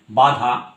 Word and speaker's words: বাধা: ধরা যাক যে বাধা, একটা টোটাল শব্দের কথা বলি, বাধা, এই শব্দটা বাধা, দেখো নাক দিয়ে কোনো শ্বাসবায়ু বেরোবার পার্ট নেই।